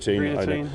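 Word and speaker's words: Greaneteen: And so you've got, excuse my pronunciation, is it Greenatine? Greenatine.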